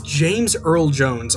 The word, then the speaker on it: James Earl Jones: I've been pronouncing Darth Vader's voice actor wrong, completely wrong. It is James Earl Jones.